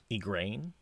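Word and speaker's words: Egwene: Ergain, Egrain. I think is how they say it in the audiobook.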